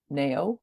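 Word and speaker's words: Naio: n no it's not it's n a i o n Nao wood I think that's how you pronounce it um smells fabulous that's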